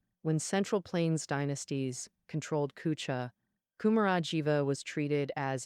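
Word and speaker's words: 龜茲: Cooa where Buddhism flourished. The pronunciation of Kunzes is a bit special.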